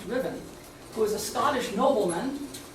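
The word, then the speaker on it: Ruthven: r u t h v n some people pronounce it ruthen or ruen but it's actually supposed to pronounced Riven who was a Scottish nobleman and based in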